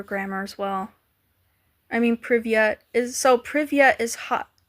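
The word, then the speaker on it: привет: I have to remember to pronounce the T.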